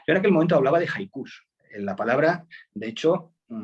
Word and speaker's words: haiku: aquel momento hablaba de haikus en la palabra de hecho hay quien la pronuncia así mira maría moliner en su diccionario dice que hay que pronunciarlo con jota y acentuado en la uv pero bueno la empecé